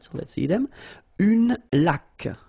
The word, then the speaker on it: laque: Une laque. Remember the rule when you get this QU, well, U is not pronounced, so you get k like that. Une laque.